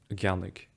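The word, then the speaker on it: ceannaigh: And similarly here, I say ceannig rather than an ceannig.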